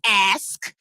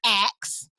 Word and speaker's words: ask: he said it's pronounced ask not ax uh it's pronounced kiss my ass okay how